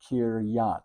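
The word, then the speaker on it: קרית: This Shava, these two dots tell you this ends the syllable. Here's your next syllable. It's a yod with an A going into the tav. So that's be kiryat.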